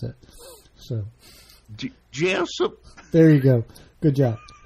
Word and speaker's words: Jessup: Jeff oh yes that's how you have to pronounce it Jessop there you go good job but yeah it's